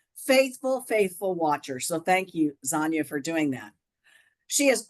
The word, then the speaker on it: Zonya: So remember, Zonya does rhyme with lasagna, so I didn't make that up.